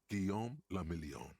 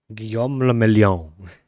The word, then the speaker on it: Guillaume Le Million: Guillaume Lamillion. Guillaume le Mélian. Guillaume le Mélian. La star du disco, c'était un Français. If it doesn't rhyme, you're not pronouncing it right.